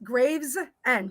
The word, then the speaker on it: Gravesend: Is it Gravesend? Yes, Gravesend. Yep. Graves, like graves where you get buried at, and end. Yep.